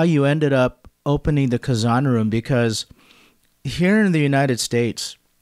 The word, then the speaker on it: Kazan: Is it Kazan Room? Kazan Room.